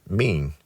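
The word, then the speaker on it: μήν: Interestingly, this takes you back to the Greek word for month, The ancient Greek word for month is mean, pronounced mean.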